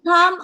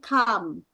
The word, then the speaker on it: come: ya semu diaak we come on time every Monday Oke we come on time every Monday Jadi bukan com tapi kam perbedaannya dengan Jungkat oha